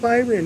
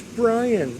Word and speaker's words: Brian: So, my name's not Byron, it's Brian.